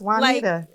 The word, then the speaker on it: Juanita: one hint okay it the J is silent Juan keep going Juanita